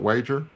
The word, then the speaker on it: Wager: Would you please, am I pronouncing that correct? Is it Wager? Yes, Okay, very good.